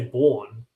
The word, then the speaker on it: Melbourne: If you were to if you were to take out the Mel and just say born, that's like the correct way to say it. But we all say Melbourne.